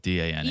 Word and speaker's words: Dane: that money came from Dane. She keeps calling him Dan. I just think it's the accent. Because Dane. on screen, it's spelled D-A-N-E. Yeah, it's Dane, like Great Dane.